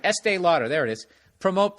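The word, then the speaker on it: Estée Lauder: pick Estee Lauder I just said it right Estee Lauder there it is PR OTE breast cancer awareness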